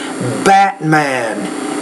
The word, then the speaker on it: Batman: you get back Batman notice how when I'm saying these I'm not really pronouncing that T I'm saying Batman gettin important brightening Hatrack